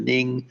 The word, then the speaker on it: Ng: His one of his direct assistants, Mr. Ning, that's spelled NG, was indicted, and then J. Lo also indicted. Lo is reportedly hiding in China, and Ning was arrested in Singapore.